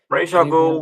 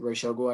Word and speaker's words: Ra's al Ghul: But personally, as much as I love Raz, because I personally don't pronounce it Ra's al Ghul, I pronounce it Raz al Ghul.